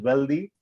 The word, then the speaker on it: Wealth I: I represent a company called Wealth I, which you could pronounce as Wealthy.